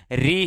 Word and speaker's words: ऋ: अवश्य लिखा जाता है, किंतु इसका उच्चारण तो री ही है।